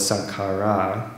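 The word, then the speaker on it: saṅkhārā: to as formation, sankhara, plural is sankhara with a long A at the end.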